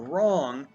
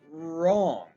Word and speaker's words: wrong: our mb climb wrong there's our wr wrong and you really just hear the r sound wrong right wrong and this